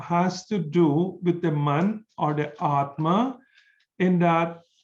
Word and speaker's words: man: explain the word mantra man m-a-n very similar it pronounced in the same way as man is in english means the mind or